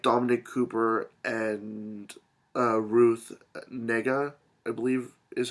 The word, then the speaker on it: Negga: and TV shows like Dominic Cooper and ruth negga i believe is how you say her last